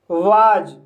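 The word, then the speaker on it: was: वाज, वाज शब्द में short sound vowel ए के बाद सिंगल एस आया है, इसलिए एस का प्रोनाउंस जा हुआ है, इसलिए इसे वाज पढ़ा जाता है।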